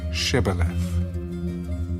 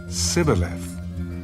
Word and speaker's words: Shibboleth: If he said no, then they would say to him, "Then say Shibboleth." And he would say Sibboleth, for he could not pronounce it right.